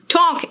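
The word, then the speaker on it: talk: इसलिए प्लीज आप क्या करोगे, बोलो क्या, इट्स बाम, पाम, पाम मतलब हथेली है ना, टॉक एल साइलेंट है, वॉक डान को कहते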